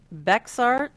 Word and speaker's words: Bexar: so we are in Bexar Texas it's be the X isn't pronounced yeah see well see